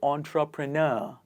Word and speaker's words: entrepreneur: Entrepreneur or entrepreneur?